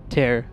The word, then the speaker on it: Tear: I know it's pronounced tier, but... Yep. But he meant for it to be tear, according to Grubby.